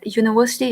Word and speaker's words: university: to place an but keep it in your mind when you pronounce the words university here your upper and lower teeth are touching right so air is obstructing here air is not coming without any obstruction so you cannot say that the world is starting